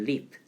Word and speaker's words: leap: REAP. 이것도 reap인데 R 발음이라서 reap, reap. 이건 leap, leap 이게 차이가 있는데 이 reap는 이게 뜻이 수확하다예요.